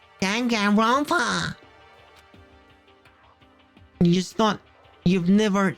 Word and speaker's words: Danganronpa: Yeah, Danganronpa. That's how you say it, isn't it? The filthy creature. No, I just thought... I know what you just thought. What are you laughing at, big brother? I'm saying it correctly. Danganronpa.